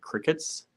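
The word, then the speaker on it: Cricut: I've been looking at crickets c-r-i-c-u-t the I guess it's pronounced Cricket uh Michaels carries them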